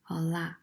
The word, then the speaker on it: olá: It indicates that the accented vowel is stressed, olá, so that the tonic syllable is lá.